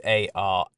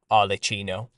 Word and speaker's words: Arlecchino: If you type in Harlequin, or better yet, Arlecchino, which is spelled Arlecchino, Arlecchino.